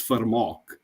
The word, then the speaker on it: Vermaak: So my last name, the V, has an F sound. So it's Vermaak.